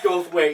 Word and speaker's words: Goldthwait: did you call me I think I said it wrong that's okay I go way tonight see good that's right you said it right third time a charm